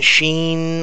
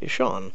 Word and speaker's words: Sean: if you go on Google in America it's pronounced Sean for people have been saying Sheen all this and I'm like no here in America s e a an is Shawn it's literally you can go Google how to